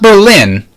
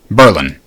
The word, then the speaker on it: Berlin: I grew up next to a town called Berlin. Not Berlin, Berlin. And that's very subtle. It's just a subtle change in the emphasis.